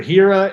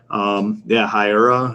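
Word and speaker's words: Hiura: Hira, if that's how you pronounce his name. Hira.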